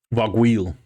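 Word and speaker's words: Vargouille: Coming across a Varguli, I think we decided the pronunciation was, Dave. Vargwheel.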